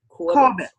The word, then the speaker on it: Corbett: I have with me today, is it Corbett or Corbet? How do you pronounce it? Corbett.